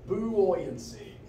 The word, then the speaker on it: buoyancy: no here we go buoyancy the same as the word buoy you know the things that float in the harbor buoyancy it's very weird when you say it phonetically so Force buoyancy is